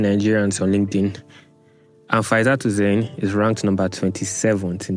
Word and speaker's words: Hussein: Husseini or Hussein? Hussein. Hussein. Should I spell it?